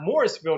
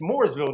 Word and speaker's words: Mooresville: I said, no, it's not Morrisville, North Carolina. It's Mooresville, North Carolina.